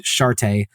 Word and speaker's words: Sharte: and the starting puppet Sharte, which we're going to pronounce the E at the end because otherwise, I don't know, my inner middle school boy will take over and just.